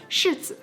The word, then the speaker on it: 柿子: to the persimmons, because the pronunciation of persimmons in Chinese is 柿子. You can see how the two words 是 and 是 have very different meanings, but they sound exactly the same, so that's where it correlates.